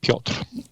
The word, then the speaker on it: Piotr: It's the Polish version of Peter, Piotr.